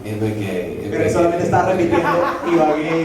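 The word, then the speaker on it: Ibagué: But I was just saying, Ibague, Pero solamente está repitiendo Ibague, Ibague.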